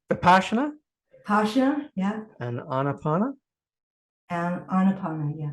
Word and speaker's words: Vipassana: Vipassana, yeah.